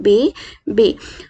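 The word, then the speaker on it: bébé: इससे हम बेबी को ऐसे पढ़ रहे हैं बे बे। हल्का सा जैसे हम ई की मात्रा लगाते हैं ना, वैसे ए आप समझ रहे ना, ए बे बे बे बे, हल्का सा ई की मात्रा हल्के से अपर साउंड के साथ हम इसे यूज करेंगे, बे बे बे बे।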